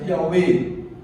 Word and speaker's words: Yahweh: Tem uma grande possibilidade, né, vários estudiosos falam que existe uma probabilidade de ser Yahvé, né, escrito Y-A-W-E-H, Yahvé, ou numa outra pronúncia, Yahweh.